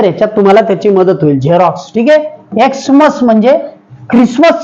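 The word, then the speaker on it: Xerox: एक दुसरे स्पेलिंग सांगतो झेरॉक्स हा शब्द तुम्ही वारंवार ऐकला असेल झे त्यामध्ये हा एक्स जरी असला तरी त्याचा उच्चार झे सारखा होतो इतर याच्यात तुम्हाला त्याची मदत होईल झेरॉक्स ठीक आहे एक्समस म्हणजे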